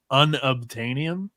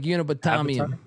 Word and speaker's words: unobtainium: He gets mad when we mispronounce his username. So apparently it's unobtainium. No, I like Unibotamium.